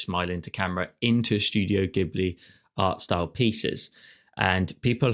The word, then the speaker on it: Ghibli: gibli style um the amount of people that also say it wrong is horrific gii or GI or something like that like they really no